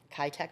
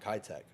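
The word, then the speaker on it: Kitec: and I remember I had a home inspection, Keitech Plumbing. Yep. Yep. Orange. You remember hearing that though, right? The '9s. Am I saying it right? Keitech. Yeah. Keitech.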